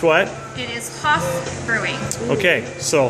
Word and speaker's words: Haff: pronounced what it is Hoff Brewing okay so Hoff with an A so get it right